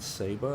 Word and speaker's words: Saba: a small little island Saba I think is pronounced sa ba and um over in